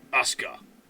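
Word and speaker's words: Aska: like a a quip Asca. And as we know from Tekken and wrestling, if you spell the name Asuka, there's a U in it.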